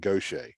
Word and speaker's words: Gautier: So Gaucher is actually spelled Gautier. In French, it's Gautier. Mm-hmm. But of course, English speakers don't say that, so we call it Gaucher.